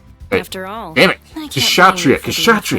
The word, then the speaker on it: Kshatriya: Kshatriya! Jesus! Have I been pronouncing it Kashtira this whole time again?